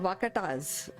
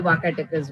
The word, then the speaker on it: Vakataka: So, tell us about this kingdom, Vakatas, if I'm pronouncing correctly. Vakataka. Vakataka is the name.